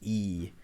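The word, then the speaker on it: Ii: It's spelled as as I I is it's just it's just the letter I twice pronounced E.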